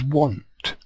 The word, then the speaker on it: want: this is an ant ant is pronounced differently from Ant with a W in front of it even though they look similar so this is ant but this is want want right you can